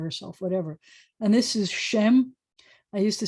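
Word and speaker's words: שם: And this is Shem. I used to say, it rhymes with sounds like, but until I heard that modern Israeli pronunciation, they won't say a there, they'll say Shem.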